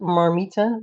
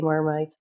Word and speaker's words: Marmite: When I grew up, we call it Marmita because that's the the Dutch uh how you say it, Marmita. And then I figured out that a lot of Dutchies, they actually say mermaid, but not in my